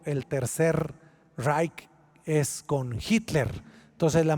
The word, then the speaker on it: Reich: del cese romano y el tercer raid o rage y como como se lee en español pero más o menos se pronuncia así el tercer reich eso significa el tercer